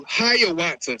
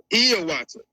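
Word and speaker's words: Hiawatha: some they changed his name in in popular um uh books to Hayawata. So if you ever heard of a man named Hayawata, it's actually pronounced Iawata, right?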